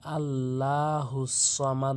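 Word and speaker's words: الصَّمَد: আল্লাহুস সামাদে বলতে হবে অনেকে ভুল করে বলে আল্লাহুস সামাদ বলে আল্লাহুস সামাদে বলতে হবে এরপর আসুন লাম মিম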